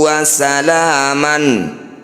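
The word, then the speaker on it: وسلاما: Cara baca mad iwad, bunyi fathah tanwin diganti dengan fathah panjang. Wasalaman, ketika berhenti wasalama, jangan terlalu panjang.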